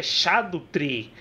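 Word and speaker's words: Scadutree: porque tipo, é chamado Skadutri Fragments, porque é Skadutri em inglês, só que na verdade Skadu é uma palavra em inglês para sombra e literalmente se pronuncia Shadow, então na verdade é Shadutri.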